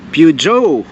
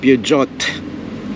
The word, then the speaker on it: Peugeot: Peo So yun ang tamang pronunciation guys Pujo. So tayo sa English pujot ang basa natin.